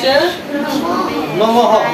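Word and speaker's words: নাম্নে: কৃষ্ণ কৃষ্ণ চৈতন্য আরেকটা শব্দ আছে কি নাম নেম নাম নেম নে আছে না এটার উচ্চারণটা হবে এভাবে এই নাম নেম নে এভাবে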